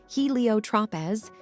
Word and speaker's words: Heliotropez: And if you're ready to dive into the world of Helio Tropez, get your copy by using the link below or go on Amazon. It's spelled HELIOTROPEZ.